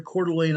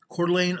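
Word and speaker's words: Coeur d'Alene: And this is over near Celane, Idaho. I know the reporter butchered the name of that town, but I've been in Celane myself. Cordelane, Idaho is where it's at.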